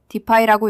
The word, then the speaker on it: Dify: defy라고 읽습니다.